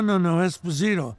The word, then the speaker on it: Esposito: I said, no, Esposito. The second syllable.